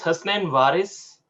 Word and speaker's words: Hassan Varis: um hello friends uh my name is hassan varis that's the right pronunciation and i'm a hardcore